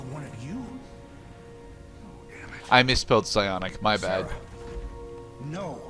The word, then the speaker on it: psionic: I misspelled psionic, my bad. No. The P is silent.